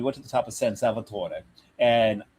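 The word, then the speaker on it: San Salvatore: And we went to the top of San Salvator and yes, I'm saying it right because this particular area of Switzerland is is Italian.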